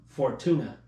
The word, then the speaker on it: Fortuna: Well, I mean, you got to watch what's his name, Fontura as well. Okay. That's how you say his name, right? Fortuna.